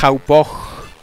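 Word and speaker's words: Hauppauge: Se pronuncia Haupog.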